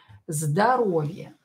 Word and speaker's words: здоровье: моей провинции синд райту и метает майкон интересен здоровье здоровье сводят new for здоровье здоровье ударение на букву a из стресс из здоровья